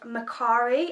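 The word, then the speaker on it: Mercari: up from an app it's called Macari I think that's how you pronounce it and I'm pretty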